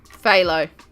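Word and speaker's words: phthalo: then we want midle blah BL BL blue phalo there we go I knew I wasn't saying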